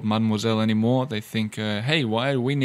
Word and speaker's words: mademoiselle: And number three, the third one you can use is mademoiselle. Don't forget that middle E is silent. It's not mademoiselle, it's mademoiselle.